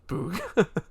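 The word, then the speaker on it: Bugha: a thing to tell the celebrity like it's pronounced Booga.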